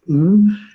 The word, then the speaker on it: Ng: my name is my last name is pronounced mmm my patients call me dr.